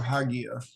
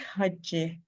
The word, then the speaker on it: Hagia: Is it Hagia or Hagia? I think Hagia.